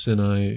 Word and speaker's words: Sinai: And actually, it is pronounced Sinai.